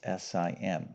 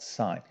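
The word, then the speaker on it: sine: H sign okay now if you were to spell it out it's s n e but the abbreviation is s i n okay like sin all right but it's called sign okay so remember I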